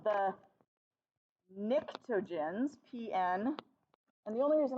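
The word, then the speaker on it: pnictogens: 15 is called the nictogens PN and the only reason I really like that is because it's got a silent P how many words got a silent P that's pretty awesome Nick tojens but I didn't even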